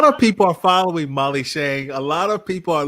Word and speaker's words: Tschang: It's a German spelling of a Chinese name, and the TS is silent. So it's a little tricky. It can be Tschang, but it's actually Tschang.